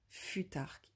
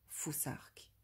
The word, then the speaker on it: futhark: Plutôt que de dire futarque, il est important de prononcer foussarque.